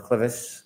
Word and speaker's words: clivus: Were you a presenter in fractures of the clivus, clinical and radiographic features? Yes. Am I pronouncing that correctly?